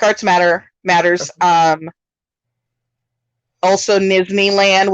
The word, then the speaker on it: Nizzneyland: matter matters um also nizhny land which is n-i-z-z-n-e-y-l-a-n-d kind of rhymes with disneyland because that's like encompasses